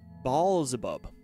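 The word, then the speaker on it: Beelzebub: depending on your interpretation blub is pronounced ball abub which is AB probably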